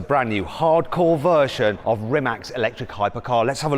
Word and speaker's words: Rimac: on Bugatti products and Rimac's products. Yes. I'm saying it kind of half correctly. It's Rimac, isn't it? Rimac, yeah. It's a Croatian way of pronouncing Rimac.